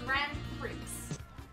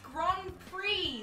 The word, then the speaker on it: Grand Prix: Okay, I need to go in here again because I just heard you say grand. Yes. It's pronounced Grand Prix, Larissa.